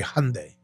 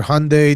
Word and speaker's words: Hyundai: How do you say Hyundai?